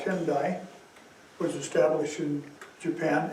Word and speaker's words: Tendai: and a school called Tendai was established in Japan. It almost is the same in Chinese, it's Tiantai. Tendai, Tiantai. Almost the same pronunciation.